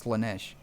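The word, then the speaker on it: Slaanesh: It's Ceylon Thresh, but that's not how you pronounce it. I think it's Slanesh.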